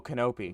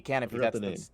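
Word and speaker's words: Kanopy: saw this movie, which was um Oh, Kenopi. Oh my god. Canopy. Canopy. That's That's how you pronounce it.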